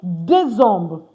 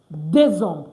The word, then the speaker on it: décembre: And of course, December, like we are in right now, we say Décembre. Décembre. The R-E not pronounced.